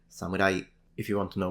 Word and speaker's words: samurai: are interested in Japanese these are pronounced Yari Katana and Samurai if you want to